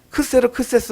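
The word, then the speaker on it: Xerxes: 남편이 따이 아스란 이제 원래 이제 발음은 크세르크세스 왕 이에요 그그 3 스프 세서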